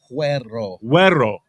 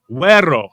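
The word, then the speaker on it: güero: Yeah, Huero. Huero. G is silent.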